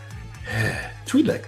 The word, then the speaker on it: Twi'lek: You would think, since I've only been watching Star Wars since 1978, that I would know how to pronounce things. Twi'lek, thank you.